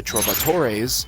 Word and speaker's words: troubadour: If you're working with the Troubadours, and yes, that's how you pronounce that, Troubadour you'd be working in entertainment.